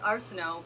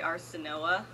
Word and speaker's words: Arsinoe: Arsinoe is Arsinoe, but sometimes I just say Arsinoa for no reason at all.